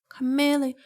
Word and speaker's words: chameleon: How do you pronounce it? Chameleon. Chameleon.